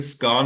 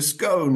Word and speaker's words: scone: all the time because she would say it's a scone, and I'd say, no, it's not a scone, it's a scone. It's spelled with an O.